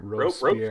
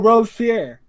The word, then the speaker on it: Robespierre: Hey Della, how do you pronounce that last name there? What last name? It's Robes. I think it's Pierre. Robespierre. Robespierre. Oh, Robespierre.